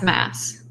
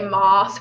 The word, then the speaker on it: Maas: It's Maas. Okay. Maas. I've heard lots of people say Moss, but like, yeah.